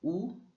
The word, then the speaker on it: u: Donc, U se prononce comme OU, en français comme loup.